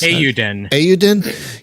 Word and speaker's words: Eiyuden: Eiyuden.